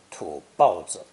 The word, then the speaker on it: 土包子: 包 is sometimes pronounced fourth tone to better express disdain, 土包子.